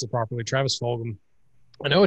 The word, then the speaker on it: Fulgham: Anyway, so in my sleeper, I'm going with, and thank y'all for saying his name earlier so I can pronounce it properly. Travis Fulgham.